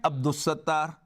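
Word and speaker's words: عبد الستار: But people have named Abdul Ghaffar and Abdus Sattar. Here, lam is not pronounced, but here it is pronounced.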